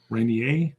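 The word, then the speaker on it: Reynier: until it's going to be green uh Mark Rene is going to be there Rainier sorry I always say it wrong Ponda Panda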